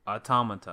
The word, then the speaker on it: Automata: Whichever one has all the A's sounding the same. Automata, I think. Probably. Yeah, Automata. So. And it's probably the Japanese pronunciation too.